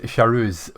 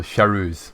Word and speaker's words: Charouz: and I'll let you know it's pronounced Charouz for the car of Roland and Rohard Lad, just to help you a little bit. So Charouz.